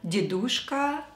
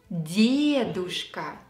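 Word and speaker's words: дедушка: who starts learning Russian know these words and pronounce them with incorrect stress dedushka babushka Boris DeVotchKa the correct way is de dooshka here yay is stressed the dooshka and Bob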